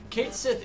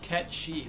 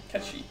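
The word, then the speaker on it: Cait Sith: the goal proud Kate Sith is pronounced ketchy that is correct catchy what yeah isn't that weird I'm not ready to accept cheese it's like a Scottish phrase It's Scottish words are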